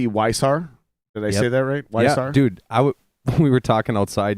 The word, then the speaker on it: Weishaar: Yeah, Weishaar. Yeah, got the Very German.